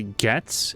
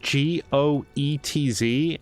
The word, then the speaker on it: Goetz: Fair warning, I'm going to wind up calling that guy Getz. It's pronounced Goetz, and it's just going to be hard for me to remember Goots, given the lack of a second O.